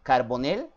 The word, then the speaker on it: Carbonell: Estamos aquí con Felipe Martínez Carbonell. Ahorita me va a decir si lo pronuncié bien, porque la verdad era un nombre, un apellido que nunca habíamos escuchado, de Argentina.